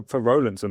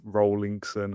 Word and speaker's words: Rolinson: I get a lot of Rolinson, a lot of Rollingson, all different kinds. You smash that pronunciation, so fair play. All right. I didn't realise that was a thing. Yeah, I get Rolinson all the time, yeah. People assume that it should be double L if it's Rolinson, like roll.